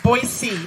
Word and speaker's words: Boise: It's Boise, by the way. Woo! Aussie just told you how to pronounce an American name.